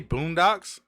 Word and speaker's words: Boondocks: been saying it wrong Boondocks it's a boom in the docks yes okay yeah I